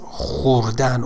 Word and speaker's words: خوردن: خوردن do not pronounce it as خوردن or موتور, you know, it's O, complete O.